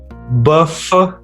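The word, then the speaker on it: bœuf: Buff, buff, which means beef.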